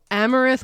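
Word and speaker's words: Amerith: americ a marath but he says it's pronounced amaranth like the the grain so amareth White Eagle okay okay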